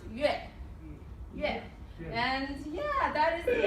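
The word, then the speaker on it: 月: And it's pronounced yue.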